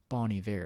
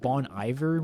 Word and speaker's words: Bon Iver: I pronounced it Bon Iver when I first heard about him, but I think it's Boney Bear.